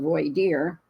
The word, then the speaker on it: voir dire: court for the jury it's called voy deer V dire voer I think is how I've heard it pronounced most of the time um we're going to